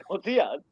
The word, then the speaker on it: Gutierrez: Gutierrez.